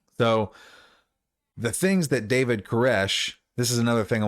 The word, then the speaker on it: Koresh: Cyrus, if you're not aware, the Hebrew pronunciation of Cyrus is Koresh.